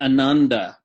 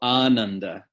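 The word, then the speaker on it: ānanda: English speakers say ananda. Wrong. Yes, there is right and wrong in Sanskrit pronunciation. This is not a relativistic language. It is actually wrong to say ananda. Hippies and New Agers, they hate this idea. They're like, well, that's how I pronounce it. No, it's wrong. Sorry.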